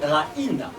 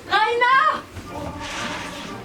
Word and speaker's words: Raina: On dit Raina, avec l'accent tonique sur le i. Raina!